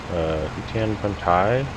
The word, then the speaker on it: Hutan: Currently I'm here on Hutan it's pronounced.